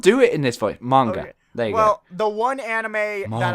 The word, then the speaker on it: manga: the manga and one stop saying manger i will choke you if you say manger again in manga and yeah you said you said monger he said monger i can't do it